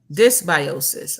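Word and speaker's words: dysbiosis: come I can't hear nothing here we go this biosis all right we ain't going to chop it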